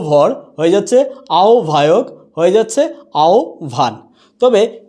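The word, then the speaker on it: আহ্বায়ক: উচ্চারণটা হয়েছে গৌ ভর, হয়ে যাচ্ছে আও ভায়ক, হয়ে যাচ্ছে আও ভান।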